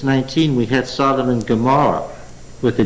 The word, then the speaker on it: Gomorrah: So that it happens that in Genesis 19 we had Sodom and Gomorrah with a G. Just traditional. It's an ayin. There it happens to be pronounced as a G.